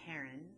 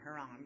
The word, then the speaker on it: heron: kind of snake wow so that is a heron i should have known not to pronounce it haram because i could see the n right i already told you that's what all these words ending sound is and frighten you're scared